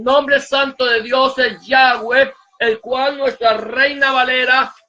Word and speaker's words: Yahweh: vocales, simplemente las consonantes, y ellos sabían que la pronunciación del nombre era Yahweh.